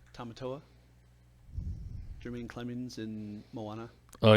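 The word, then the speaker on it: Tamatoa: Tomatoa.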